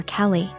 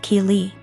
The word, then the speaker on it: Keeley: I realized she was calling my daughter Kelly my daughter's name is Keeley pronounced Keeley so after school was